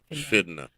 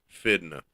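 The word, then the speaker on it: finna: hotel that day or whatever they say FNA fidna they spell it f i n n a yeah well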